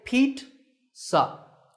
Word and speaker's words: pizza: wrong so I guess the names of most pizza chains are mispronounced as well including Domino's Papa John's and Little Caesars so here's how you correct the mistake say Pete sup it's not pizza and it's not pizza it's